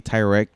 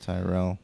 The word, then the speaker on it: Tyrell: Alien helped it, but obviously Tyrek. How do you say his name? Tyrek. Welek. That was Tyrell.